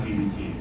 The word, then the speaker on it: ZZT: Tim Sweeney, in that same interview that I just cited, claims that he intended ZZT to be pronounced as a single syllable, like a sound effect, like zzz, like someone getting electrocuted.